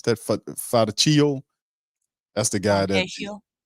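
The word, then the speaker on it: Fontecchio: How you pronounce that? Fantaccio? That's the guy Fantatio.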